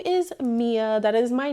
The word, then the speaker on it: Mia: Sometimes people call me. I've had a lot of people call me before, too, but it's pronounced Mia.